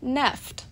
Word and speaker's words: NFT: to be correctly pronounced NEFT. According to a poll of at least 10 staffers at The Verge online publication, they agreed on this one-syllable pronunciation, which fits perfect with